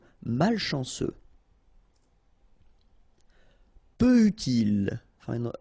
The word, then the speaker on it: malchanceux: Malchanceux. Final X not pronounced. C-E-U, ce. Malchanceux. Malchanceux.